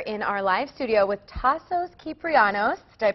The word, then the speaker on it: Tasos Kyprianos: All right, we are here in our live studio with Tassos Kyprianos. Did I pronounce it right?